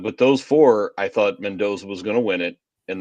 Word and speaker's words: Mendoza: Yeah, it's Mendoza.